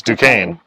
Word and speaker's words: Duquesne: And I know people do Duquesne wrong. Duquesne. Well, it's spelled Duquesne. Yeah, it's spelled Duquesne. But it's Duquesne. And then, yes, there is North Versailles.